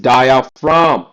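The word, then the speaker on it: diaphragm: This is डायफ्राम। Okay? इसमें जी silent है।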